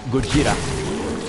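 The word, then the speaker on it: Gojira: the Godzilla movie short I still call them good schita because that's the original pronounce that's the original long name and yes I did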